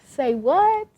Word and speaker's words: Say What: say what weightless foundation hold on let me say that again this is the say what there we go that's the right way to say it weightless foundation this is